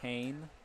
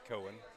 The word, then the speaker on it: Cohen: P Terry P kylen Kane not Cohen it's spelled Cohen but it's pronounced Kane I learned that not